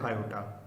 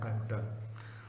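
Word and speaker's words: iota: और क्या बोलते हैं, आयोटा। आयोटा इज जो इसका प्रोनाउंसिएशन है आयोटा।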